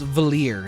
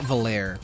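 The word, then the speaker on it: Valere: to pronounce the name it's valer not valir right remember that guy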